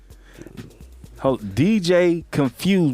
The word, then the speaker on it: Kunphuzed: DJ Confused with a K, right? Yeah. Right, right. KUNPHUZED.